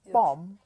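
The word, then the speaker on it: bomb: B O M B like bum. Bum. It is bum, not bum. You know the B. Yes, the B is silent.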